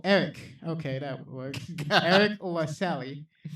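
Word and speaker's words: Eriq: Pretend that last letter is a C. Oh, Eric.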